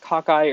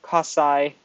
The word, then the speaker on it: cocci: So they can be spherical, like a ball, which is pronounced cocci or cossi or cocci, however you want to pronounce it. I like to pronounce it cocci.